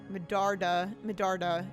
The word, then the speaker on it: Medarda: All right, so we got Jave Medarada, or Jave Medarada, Medarda. That's how you pronounce it.